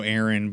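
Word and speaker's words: Ehren: seeing the other guy whose name is also Aaron but not spelled the same.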